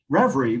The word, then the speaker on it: Revry: i we had the best conversation um so reverie which i'm putting i'm going to put up